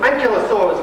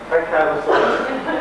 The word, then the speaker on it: Ankylosaurus: Ankylosaurus was good. Ankylosaurus or Ankylosaurus, depends whether you went to an American or a British university, but both pronunciations are okay.